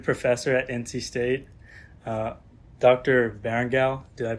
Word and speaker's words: Barrangou: Barrangou. Did I pronounce that right? Barrangou. Barrangou.